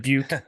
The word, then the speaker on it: Dubuque: season for the Dubuque, which I hope I pronounced properly, but I have no Dubuque. Dubuque.